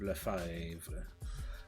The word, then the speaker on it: Lefebvre: Now Lefebvre is a French-Canadian last name, and that's exactly how it's pronounced, Lefebvre.